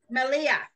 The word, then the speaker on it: milia: How do you pronounce it? Malia.